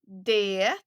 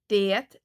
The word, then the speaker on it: det: Det regnar. Det regnar. Here again, you can hear when you say det. Fast in a sentence together with other words. It almost sound like det.